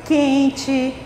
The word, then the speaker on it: quente: Exemplos da palavra quente, noite, pente. Veja que essas palavras se escrevem com E no final, mas a gente pronuncia com I.